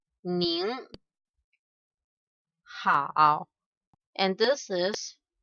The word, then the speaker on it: 您好: This one we pronounce 您好, and this is 你好.